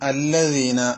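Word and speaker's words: الذين: അടുത്ത പദം അല്ലദീന എന്നതാണ് അല്ലെ. അല്ലദീന എന്നതിൽ സാധാരണഗതിയിൽ തെറ്റാറുള്ള പ്രധാനപ്പെട്ട ഒരു തെറ്റ് ദാലാണ്. ദാല് പലപ്പോഴും നമ്മൾ ഓതുമ്പോൾ ഒന്നുകിൽ സിറാത്തല്ലസീന എന്നാവും, അല്ലെങ്കിൽ സിറാത്തല്ലദീന.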